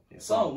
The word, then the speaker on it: Psalm: Psalm. Where's the P? It's silent.